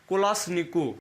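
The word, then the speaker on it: Kalashnikov: हटा लीजिए, अब एवेटोमेट कोलाश्निकोव। इसका पूरा नाम क्या? एवेटोमेट कोलाश्निकोव। क्लियर? इसको बहुत लोग बोलते हैं कोलाश्निकोवा। तो कोलाश्निकोवा जैसे कि अपना प्रोनाउंसिएशन होता है नेम का, तो उस तरीके से होता है।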